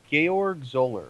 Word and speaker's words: Georg Zoller: I always mispronounce it. Georg Zoller.